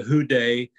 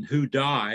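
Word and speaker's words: Houdaille: original company it's called The Who day correction who die is the way you pronounce it who died make an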